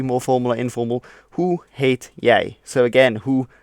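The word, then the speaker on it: heet: in Dutch which is hate so I hate Hilbert now hate is pronounced just like the English word hate although it has a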